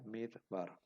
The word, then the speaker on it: midbar: vocal breve por ejemplo la palabra midbar que significa desierto se pronuncia midbar Bueno aquí tenemos entonces